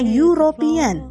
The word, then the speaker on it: European: European, cara bacanya European, berawalan bunyi konsonan.